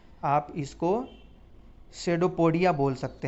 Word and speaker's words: pseudopodia: पदाव कहते हैं, यानी कि आप इसको शेडोपोडिया बोल सकते हैं। PSEUDOPODIA, यानी P इसमें साइलेंट हो जाएगा, और शेडोपोडिया आप बोल सकते हैं।